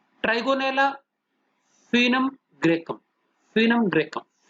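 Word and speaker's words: Foenum graecum: Trigonella फिनम ग्रेकम, फिनम ग्रेकम, FOE जैसे फीटस होता है, ओ साइलेंट है, फिनम ग्रेकम।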